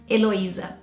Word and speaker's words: Heloísa: And in Portuguese, we would say it Heloísa.